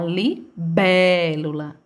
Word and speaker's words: libélula: Veja, realmente, a sílaba que mais se arrasta é a libélula, né? Bé. Sempre a sílaba que mais se arrasta é a bé.